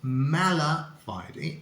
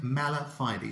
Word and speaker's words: mala fide: look at it um the pronunciation is mala fighting in both British and American English so that's why I prefer the British pronunciation because there's a nice Civic between boner Heidi and Mala fighting whereas in American English you say bona fide and then Mala fighty so you see there's